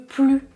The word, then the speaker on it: plus: Donc, premièrement, nous venons de le voir, quand la phrase est une négation, vous ne prononcez pas le S de plus. Si vous pouvez remplacer plus par le mot pas, c'est une négation. Il ne veut plus de chocolat.